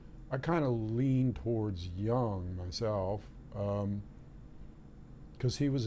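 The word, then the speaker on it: Jung: be an intuitive feeling now young one of the great psychologists which is spelled j-u-n-g for those who don't know uh talked about this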